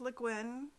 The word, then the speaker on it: Le Guin: name so often that she has a page on her website that explains how to pronounce her name it is le guin i know that because